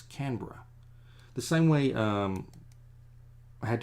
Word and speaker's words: Canberra: Oh yeah, Canberra. The capital city of Australia is not Sydney. It's Canberra, but it's spelled Canberra. But we just put that all in one. It's Canberra.